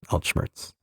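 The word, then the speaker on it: Altschmerz: from German. Alt old plus schmmerz pain pronounced alt schmmerz.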